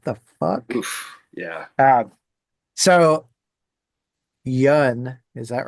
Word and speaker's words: Yun: I I think that's the funniest thing for me is watching people try to pronounce some band names. You're like, "What the fuck?" Yeah. Um so Yun, is that right?